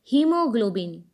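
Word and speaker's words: haemoglobin: जैसा कि स्क्रीन पर शब्द दिख रहा है हीमोग्लोबिन, इस शब्द में ए एच के बाद आया है, लेकिन फिर भी हम इस शब्द को हीमोग्लोबिन ही पढ़ते हैं। इस वर्ड में ए साइलेंट होता है।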